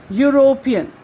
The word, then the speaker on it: European: European. Once again here also it seems as if it is beginning with Y.